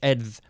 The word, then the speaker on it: edh: E-D-H, also E-T-H, and it's pronounced ev. With the hard TH, edth.